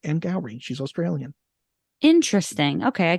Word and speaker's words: Angourie: But it's Angourie, and it's pronounced Angourie.